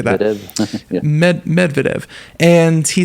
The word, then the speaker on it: Medvedev: But anyways, he's the former president Dmitry Medvedev, I believe is how you say that. Yeah. Medvedev.